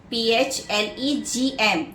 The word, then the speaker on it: phlegm: Flame, P-H-L-E-G-M, where the G is silent.